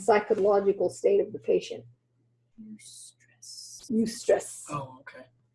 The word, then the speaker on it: eustress: Eustress. Eustress. Oh, okay. Stress that's positive stress. Yes, it's not distress, it's eustress.